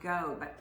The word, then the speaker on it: Goeb: It was, I can tell you, it was Daniel Scott Goeb, G-O-E-B, and that's how you Oh.